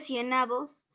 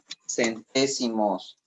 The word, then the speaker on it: centésimos: Lleva tilde en la E, ambos. Igual que todos llevan tilde en la E, décimos, centésimos, porque son esdrújulas.